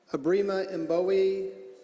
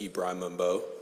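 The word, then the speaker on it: Ibrahim Mbowe: folks, 47 through 60, Abrima Mbowe, Matthew Johnson, Shaquille A., Kiana Jones, Amy Taylor, Sarah McClintock, and Eric Bulakitos. Go ahead. I do want to clarify that my name is pronounced Ibrahim Mbo.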